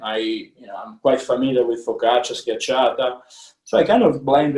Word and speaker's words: schiacciata: I write it with the K so people can pronounce it. And it's really it's a flatbread, yeah. Because if I wrote schiacciata, people, you know, they were gonna struggle through the reading.